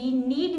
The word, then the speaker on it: knead: अब हम के से रिलेटेड वो वर्ब्स देखेंगे जिसमें के साइलेंट है. KNOW नो मीन्स जानना, KNEAD नीड means गूंदना एंड KNIT knit means बुनना.